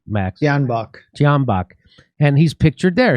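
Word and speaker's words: Tyahnybok: Janbach.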